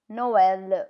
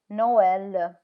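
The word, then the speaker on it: Noël: no l no l can you see how e is pronounced separate to O Noel which is Christmas Noel I with is mice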